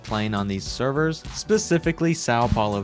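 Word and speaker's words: São Paulo: the most easiest server on this list is Sao Paulo. And yes, for anyone wondering, I am pronouncing that right.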